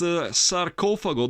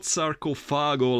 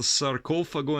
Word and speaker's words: Sarcofago: are at it, let me remind you, it's Sarcofago, that's the right pronunciation, not Sarcofago like many people tend to say. It's a Sarcofago, and this is the first edition on Cogumelo Productions, 1986, white label.